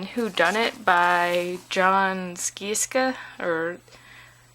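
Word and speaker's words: Scieszka: And then Who Done It by John Skieska, or Sheska, I think that's how you say it. Rhymes with Fresca.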